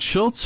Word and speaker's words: Schultze: and there's Schultz is it Schultz or schy yeah Schultz I don't pronounce the E boy it's great to